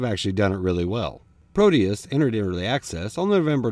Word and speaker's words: Prodeus: started today is proteus which for some reason people pronounce produce which isn't very scary or promote thoughts of action-packed gameplay so no it's proteus that sounds better proteus is the first